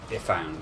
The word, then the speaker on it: Ifan: Which you can get if you have Ifan on your team. Ifan, sorry, that's how his name is pronounced. It's dumb. Which one's Ifan?